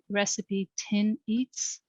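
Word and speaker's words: RecipeTin Eats: what you're cooking so um i like risk recipe tin eats that's how you say it recipe i'll have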